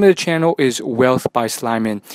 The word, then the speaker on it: Whealth: it so the name of the channel is wealth by Slim in it's spelled w e a l t by s